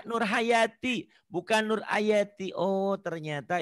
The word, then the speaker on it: Nur Hayati: Halo namanya siapa Bu bukan Ayati Nama saya tapi nama saya Nur Hayati bukan Nur Ayati Oh